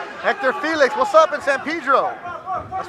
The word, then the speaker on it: San Pedro: Hector Felix, what's up in San Pedro? That's right, I said it right, San Pedro, not San Pedro.